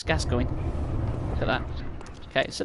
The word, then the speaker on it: Gascoigne: friend mr gasket going which no american youtuber can pronounce his name they say gasquini no he's gas going look at that okay